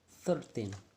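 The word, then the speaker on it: thirteen: But what about we combine to be a 13 places? 13 places. So it sounds like 13 become a weak syllable and the places become the strong one.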